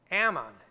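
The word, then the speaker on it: Amon: But Manasseh's son, Ammon, that's how you say it, followed him to the throne.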